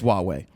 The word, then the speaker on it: Huawei: I don't even want to pronounce it. It's Huawei.